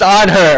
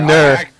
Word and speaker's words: Anhur: ya there I didn't used to call him in Newark I call him on her or on their bravery what break up the